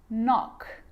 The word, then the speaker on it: knock: you know this one a K is not pronounced when it comes before an M like knife no knee knock not knowledge the letter L